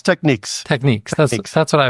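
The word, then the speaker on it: Technics: brand that has been around forever is it pronounced technices techniques it's techniques techniques that's that's what I was thinking so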